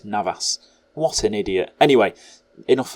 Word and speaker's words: Navas: Well, I just realised I called their keeper Neves. It's Navas.